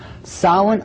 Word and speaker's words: Samhain: in the occult world they call it sawing now when you look at the name it looks as if it's saying Samhain or something like that no no no no this is properly pronounced and the ancient Gaelic as solid solid according to a cult